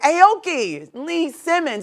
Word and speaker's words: Aoki Lee Simmons: what's up what's up so the next topic Aoki Lee Simmons am I saying that right yeah oh I